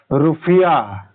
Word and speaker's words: Rupiah: और इंडोनेशिया की रुपया है, रूपिया, पापर छोटी मात्रा पी या पराग मात्रा या, और रू पापर छोटी मात्रा पी या पराग मात्रा या। ठीक है, तो वो किसकी? इंडोनेशिया की रुपया है, RUPIAH।